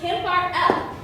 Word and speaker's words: Kimberly: It's pronounced Kim Bar L. There's no E. The E is silent.